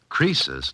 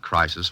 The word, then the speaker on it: Croesus: Croesus, not Crisis, was a rich king.